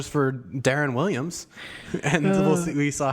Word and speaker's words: Deron: Regardless, the better part of the time I've known him, he's referred to him as Deron Williams. How do you say? It's Darren, like a name, like a first name.